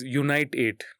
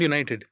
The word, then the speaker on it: Unite 8: It's Unite 8. It's UNITE number 8. Unite 8. It's not United. You say it like that.